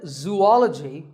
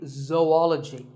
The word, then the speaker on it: zoology: do you say it if you said zoology it's actually wrong that is a very common mispronunciation this is actually zoology though and ecology zoology number 42 is